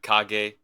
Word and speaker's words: Kage: I know it's not Age. When I thought about it the first time, it was supposed to be Kag.